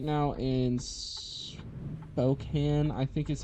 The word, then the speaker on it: Spokane: We're we're right now in Spokane, I think is how you say it, and we need to go to Seattle, so it's gonna be a longer trip.